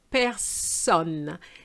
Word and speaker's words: personne: And then this one, which I always hear this word mispronounced, is personne. This time we're not going to go with the sound on because it's not on, but it's onne. Personne.